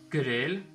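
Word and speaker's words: գրել: Hayeren Grel.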